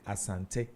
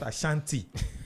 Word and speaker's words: Asante: The show has been Roots and Route, and my guest has been Asante. You saw the way I pronounced his name, Asante, not Ashanti. It's Asante. It's Asante.